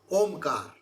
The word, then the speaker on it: Om: is a sacred syllable Omar it is three syllable a u and M see om is not one syllable it is three syllable uh U and M we say lastly oh like that so that three syllable